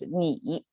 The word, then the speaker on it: 你: With this person sign, it pronounced as 你, both means you, but this is a contemporary Chinese.